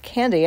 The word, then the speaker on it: Kande: So it's K and E, but it's pronounced Candy.